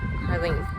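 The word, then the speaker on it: Haarlem: area I'm actually in harl Harlem harling that's how you say it um I leave tonight at 900 p.m.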